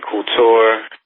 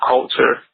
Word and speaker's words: Coulter: And then, even more so than that, they had these books from, Anne Couture, or however you say her name, and it was just like... Anne Coulter, I think Coulter, I believe. Yeah, Coulter, and I actually bought one of them.